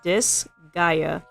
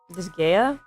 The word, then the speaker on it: Disgaea: That's how you pronounce it. Disgaea. I know it looks like something else, but that's how I pronounce it. It's also... I think people also pronounce it Disgaea.